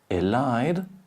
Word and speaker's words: elide: So here we have elide is the normal rule. Vowel in question, consonant, E.